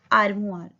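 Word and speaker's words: armoire: N Elmira, Elmira को बोलते हैं आर्मुआर, युन आर्मुआर, आर म ओ आई का साउंड हुआ र, आर्मुआर, युन आर्मुआर।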